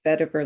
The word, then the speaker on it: Vetiver: So 5 weeks to write your first book, and oh my gosh, I'm going to attempt to pronounce it Vetiver Letters. Yes, vetiver letters.